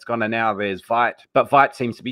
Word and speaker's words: Vite: So it's French. So it's Vite. Vite. It's actually got, if you